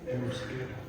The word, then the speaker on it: Euskara: Euskara.